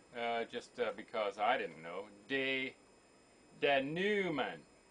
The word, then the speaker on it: denouement: And here, just because I didn't know, denouement. Don't even pronounce the T.